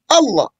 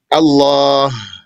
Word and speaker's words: Allah: language and they said Allah that's when you say it like that you're dropping out two letters there's a alif and a hat Allah that's how you see it Allah Allah not Allah so That's haram.